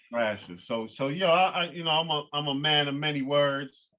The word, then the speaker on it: Ekphrasis: Am I pronouncing it correctly? Is it Ekphrasis? Ekphrasis, right. Ekphrasis.